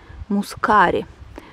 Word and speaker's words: мускари: массово взошли белые мускари правильно оказывается ставить ударение мускари эти мускари беленький я